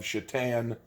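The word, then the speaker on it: Šatan: be in reference to miroslav shatan spelled satan i own his jersey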